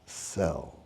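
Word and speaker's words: Szell: conducted by one George cell s z e l pronounced cell uh and the first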